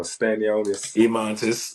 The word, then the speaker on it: Stanionis: I almost expected him to say his name wrong. Stanionis.